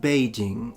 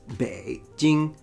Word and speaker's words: Beijing: Beijing. Beijing. It's easy once you know. Beijing. And now you know. It's not Beijing, it's Beijing.